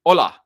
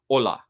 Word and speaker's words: hola: Hola in Spanish, the H is silent. Hola. Denise, thank you so much. I can see your language teacher. You can even teach me something new about Spanish so easily. Hola.